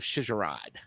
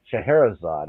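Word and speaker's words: Scheherazade: give us your take on the magic of sharod well let's see actually to help you out here it's sh shaherzad actually Shad thank you there you go you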